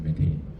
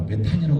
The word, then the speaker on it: 메테인: 있는게 있어요 메테인 있니다 메테인 아 저희 선배님들 아마 메탄이 들으셨을 겁니다 요즘 교과서에는 메테인이 영어 발음으로 표기가 됩니다 메탈은 주위가 생각보다 쉽습니다